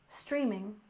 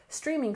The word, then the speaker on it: streaming: we have streaming services with stress on the first syllable streaming streaming and services stress the